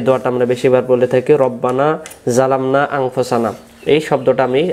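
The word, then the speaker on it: رَبَّنَا: রব্বানা জলামনা, রাব্বানা না রব্বানা বলবো, রব্বানা, তারপরে জলামনা, তারপরে আনফুসানা, তারপরে ওয়া ইল্লাম তাগফির লানা, তারপরে ওয়া তারহামনা, আবার বলেন ওয়া তারহামনা, লানা কুনান্না মিনাল খাসিরিন।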